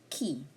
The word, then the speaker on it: qui: Okay, qui. This is pronounced as qui.